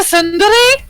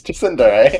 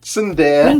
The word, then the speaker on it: Tsundere: It's Tsundere. R.I.P. No, it's not. Don't pronounce the T. Tsundere.